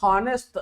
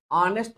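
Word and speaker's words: honest: ಹಿ ಇಸ್ ಆನೆಸ್ಟ್ ಮ್ಯಾನ್ ಇದನ್ನ ಹಾನೆಸ್ಟ್ ಹ ಅಂತಕಂತ ಶಬ್ದದಿಂದ ಓದಂಗಿಲ್ಲ ಆನೆಸ್ಟ್ ಅಂತ ಓದ್ತೀರಿ ಯಾಕಂದ್ರೆ ಇಲ್ಲಿ ಎಚ್ ಅನ್ನೋದು ಏನಕತಿ ಸೈಲೆಂಟ್ ಆಗೈತಿ ಆನೆಸ್ಟ್ ಅಂತಕಂತದ್ದು ಏನಾಗ್ತದೆ ಇದು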